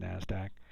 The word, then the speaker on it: NASDAQ: This where I talked about NASDAQ, that's actually how NASDAQ is spelled out. It's just pronounced NASDAQ.